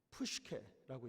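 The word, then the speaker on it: ψυχή: 그래서 그 다음에 그 영혼이라는 말, 그게 뭐냐면 푸시케라고 읽습니다.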